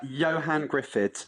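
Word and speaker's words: Ioan Gruffudd: And I don't even know how to pronounce that actor's name, but I'm sure you do. Tell me what he's called. Yeah, Johan Griffith.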